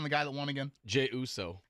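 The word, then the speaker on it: Jey Uso: watched the whole Rumble okay give me the pronunciation on the guy that won again Jay Uso Jay Uso you put that into and actually you are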